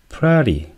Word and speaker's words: FLARE: 플레이라는 것은 이게 참 발음하기가 좀 그렇죠. 예, Fired Labs Advanced Reverse Engineering입니다. 그래서 플래리 뭐 이렇게 발음을 하게 되겠네요.